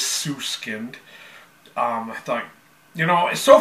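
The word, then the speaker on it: Süskind: got it right like how do you pronounce them double dot over the U and it is sue skinned I think you know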